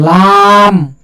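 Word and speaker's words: ل: তারপরে হল আরেকটা হরফ এটা জিহ্বার আগার কিনার সামনের উপরে একপাশের দাঁতের ঘোড়ার সঙ্গে লাগায় একটি হরফ উচ্চারিত হয় এটা হল লাম লাম লাম লাম এরপরে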